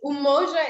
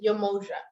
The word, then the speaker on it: Umoja: so she'll pronounce it yamoja but i think it's umoja when i hear people speak swahili i think it's pronounced umoja yeah you're welcome okay